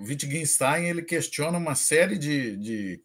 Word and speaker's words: Wittgenstein: Wittgenstein. Wittgenstein. Isso. Ele é conhecido por ser filósofo da linguagem, né? Foi conhecido, no caso. Ele utiliza esse argumento. O Wittgenstein ele questiona uma série de questões científicas a